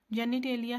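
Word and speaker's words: genitalia: जेनिटेलिया have male and female characteristics, pronounce जेनेटेलिया।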